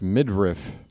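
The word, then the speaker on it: Meidroth: Pronounced midriff. Chase Midriff.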